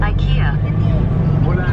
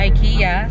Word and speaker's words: IKEA: IKEA. IKEA. So sabi ni Google ay IKEA sa American pronunciation. Sa British pronunciation naman ay IKEA.